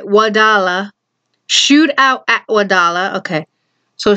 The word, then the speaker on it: Wadala: Wadala.